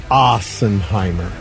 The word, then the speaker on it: Assenheimer: Well, it is German, and it is pronounced Assenheimer. Okay. Joel Assenheimer looks like a cool dude.